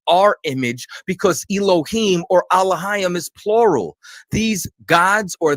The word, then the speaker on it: Elohim: meaning the judges were called alayam which some people pronounce as Elohim these are the rulers